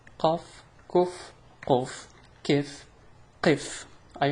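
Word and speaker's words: قاف: So before we run out of time, let's go to pronouncing examples of pronouncing the ka and the qa. So here we go. Ka, kaf. Ka, kaf. Qa, qaf.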